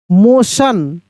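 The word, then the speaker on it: motion: एम ओ टी आई ओ एन मोशन।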